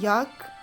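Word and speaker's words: 약: as you can see yak yak means medicine yuck in india we like basically like in our childhood we say like yuck so it is like that yeah cook pharmacy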